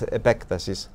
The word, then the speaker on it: epektasis: Gregory of Nyssa has the idea of epektasis. Sorry for my mispronunciation. That's okay. Greek, in Greek, it's epektasis, which means expansion, extension.